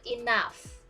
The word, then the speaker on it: enough: shi and shri okay next example is a g and h so you can pronounce it with f like f so the example like laugh not loud but laugh are enough not enough but enough okay so it will be a change to like f like that laugh and enough and then you need